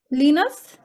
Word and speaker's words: Linnaeus: Who can pronounce that name? Can you repeat it again? Linnaeus. Linus? Linus, yes.